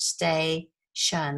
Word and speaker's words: station: an open vowel syllable which means it the vowel is right at the end of where you would divide that word stay shun those two syllables it's usually a long